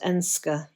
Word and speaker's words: Edenscar: Ash is based in Eden Scar pronounced Enska in the Darbashet district.